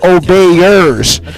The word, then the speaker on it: obeyers: It is a word, and it's called obeyers. Say it like, all these people I obey.